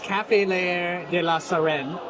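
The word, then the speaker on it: Café L'Air de la Sirène: Amy, what was the proper pronunciation? French cafe. Baguette. Croissant. So before I mess it up again, it is Café Leair de la Sirène.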